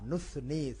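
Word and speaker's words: نُثْنِي: নুসনি, এখানে সা নুসনি, সা সা হলো হালকা, জিহ্বা বের করে স চ যদি বলতে চাই জিহ্বা বের করে, তাহলে যেটা হয় সেটা হলো সায়ের উচ্চারণ। নুসনি, নি আবার এক আলিফ টান, নুসনি। আমরা অনেক সময় নুসনি বলি, তাহলে সিন চলে আসে বা সোয়াদ চলে আসে, এটা হবে সা।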